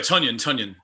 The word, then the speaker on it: Tonyan: Oh, how about because you don't know how to pronounce his name, Nando? It's Tonyan. Oh, sorry, Tonyan. My bad.